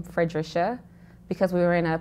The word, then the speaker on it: Fredrisha: I've noticed all your posts, they all say Fredrisha. Did I pronounce that right?